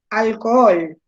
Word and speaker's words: alcohol: ejemplo si yo digo alcohol alcohol qué pasa con la palabra alcohol donde se va la sílaba tónica alcohol piensan en el alcohol con alcohol alcohol en la última sílaba tónica por lo tanto qué